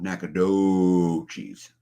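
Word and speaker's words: Nacogdoches: Okay, New Day says Nakadochi's pronunciation sounds like Nakadochi's. Sort a long O, Nakadochi's.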